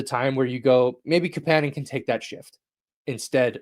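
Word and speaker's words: Kapanen: I I keep saying Kapan, but I believe he pronounces it uh Capan.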